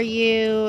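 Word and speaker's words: Ewe: the company is called You and Me, and You is spelled like a sheep, E-W-E, You and Me.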